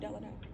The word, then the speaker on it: Delano: Is it Delano? Can I say? Is that the right way to say the street, Delano?